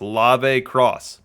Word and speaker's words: Lave Cross: I've been told his name is pronounced Lave Cross. If I'm wrong, ring me up like an umpire.